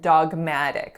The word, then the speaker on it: dogmatic: own very biased opinion dogmatic has three syllables the first one is dog with a back ah sound just like the pet a dog the second syllable our winner is Matt and then we have an alveolar flap and then look so walk a dog Maddock next up we have